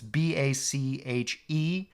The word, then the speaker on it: Bache: by Benjamin Franklin's grandson, Benjamin Franklin Bache, or Bach, I'm not sure how it's pronounced. It's Bache, but that was Benjamin Franklin's